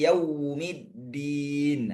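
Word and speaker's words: يوم الدين: Maliki yaumiddin. Di sini ada wau sukun. Wau sukun ini dalam bahasa Arab bunyinya u bukan bunyi o. Nah, terkadang saya temukan itu bacanya o yau. Tapi harus dibaca u.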